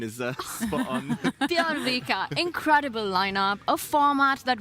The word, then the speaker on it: Bjørvika: That pronunciation is spot on. Bjørvika, incredible lineup, a format that rewards fighting chess.